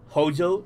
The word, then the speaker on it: Hojo: Nos presentaban a Palmer, a Heidegger, a Escarlata, a Reeves y a Ojo, aka Hojo, como se pronuncia, pero en España es Ojo de toda la vida.